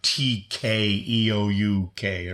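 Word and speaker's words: 닭: It's pronounced like Tkeouk or something. But to me, it sounds like duck, like, quack, quack, duck, duck.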